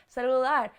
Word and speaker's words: celular: That's a difficult one for me because of the L's, celular. So the stress is on the end in Spanish, but in the beginning in English.